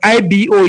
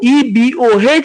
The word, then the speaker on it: Igbo: If they want to confuse them, they will say it's IBO, it's not IGBO. Well, be deceiving yourself. IBO, IGBO, EBO, HEEBO, any way you want to pronounce it, is Igbo.